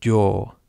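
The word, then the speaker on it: 洋: El primer kanji se lee wa y el segundo kanji se lee yo.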